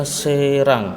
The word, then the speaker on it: Serang: Yang E contohnya Serang ya, Serang Banten ya, Serang. Maka penulisannya sin menggunakan ya, ro, alif, Serang. Jadi ya sebelumnya berharakat alif ya, berharakat fathah ya, bukan kasroh tapi fathah, serang bacanya.